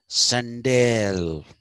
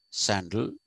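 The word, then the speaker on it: Sandel: sandal that is uh some of the americans pronounce him as sendail sendail uh i don't think that is the correct pronunciation the correct pronunciation is sandal michael sandal borrows this communitarianism from this idea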